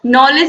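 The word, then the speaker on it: knowledge: और नॉलेज means क्या होता है? ज्ञान होता है। तो इन सब में के क्या है? साइलेंट है, के का उच्चारण नहीं हो रहा।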